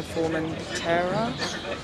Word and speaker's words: Formentera: And then we are getting a ferry across to Formentera.